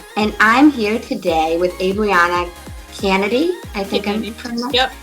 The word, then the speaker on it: Abrianna Canady: I'm your host, Amanda Russo, and I'm here today with Abrianna Canady. I think I'm pronouncing that correctly.